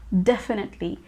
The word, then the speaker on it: definitely: Definitely. I have heard a lot of people pronounce this word as definitely, but this is a wrong pronunciation. Definitely is the correct pronunciation.